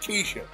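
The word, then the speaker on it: Kesha: Her name is pronounced Keisha.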